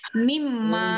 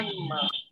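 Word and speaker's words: مما: সাথে একসাথে বসে পাশাপাশি তখন এরা দুইজন মিলে উচ্চারণটা কি হয় মিম্মা মিম্মা ঠিক আছে মিম্মা তাহলে এটার উদাহরণ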